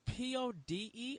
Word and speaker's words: Pode: Is it P-O-D-E or is it P-E-D-O? I was like Pode. Pode.